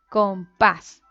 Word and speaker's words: compás: busquemos una aquí tenemos una palabra aguda con tilde paz decimos compás o compás compás y termina en una s y la aguda porque ésta es aguda porque termina la última